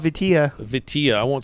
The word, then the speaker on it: Vitilla: I've heard some people say it with like an A sound, like Vitilla, but it's Vitilla. Support Ukraine. Vitilla, not Vitali.